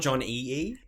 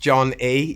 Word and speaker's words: Jon Ee: John E yeah that's that is correct not John E E uh no it's it just pronounced John E yeah um so the the name came from